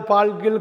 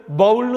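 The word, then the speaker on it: bowl: அந்த பாத்திரம் ஏதாவது வச்சுக்கிறதுக்கு, காய்கறி வச்சுக்கிறதுக்கு, ஏதாவது பால்கள் காஃபி ஏதாவது ஊற்றுறதுக்கு இந்த போல். பிஓடபிள்யூஎல், பவுல்னு சொல்லக்கூடாது, போல்.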